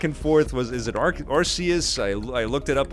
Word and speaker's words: Arceus: biggest one is pokemon legends arceus and it's pronounced arceus i've went back and forth was is it arceus i i looked it up online different people are calling it arceus but it's arceus as released in this latest trailer nintendo has